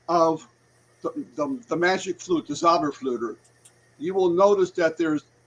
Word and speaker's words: Zauberflöte: opera called the Magic Flute, which was the Zauberflöte, which that's how you say it in German, the Zauberflöte.